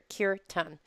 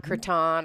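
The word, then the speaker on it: Kirtan: had a cure tongue it's pronounced cure tongue not curtain or whatever um and so we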